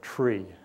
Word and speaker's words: three: at the number three you don't say three you say tree tree or the number number